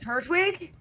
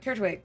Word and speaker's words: Turtwig: It's just Turtwig. Yeah, no, it's just turtwig. Turtwig. That's how I'm saying it. It's the second T that you're way over pronouncing.